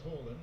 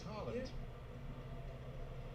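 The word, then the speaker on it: Haaland: Another curiosity that he was Holland and Earling is Harland.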